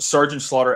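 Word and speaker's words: Sgt. Slaughter: Yes, and she was revealing old wrestling cards, and then I think they got to Sergeant Slaughter, and she pronounced Sergeant Slaughter as SJT Slaughter.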